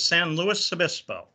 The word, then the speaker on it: San Luis Obispo: and by the way the pronunciation of that beautiful city is san luis obispo so thanks for your